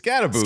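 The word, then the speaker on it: Skattebo: It's Scattaboo. Yeah. That's a Scattaboo. I'm in. Yeah, get us a Scattaboo, an O-line depth, and a tight end. We're good. I'm in on Scattaboo.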